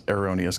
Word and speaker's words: Heronius: like an aspect of Heronius, who he kind of pronounces it as Eronius, because that's how the guy said his name in the vision, but it may be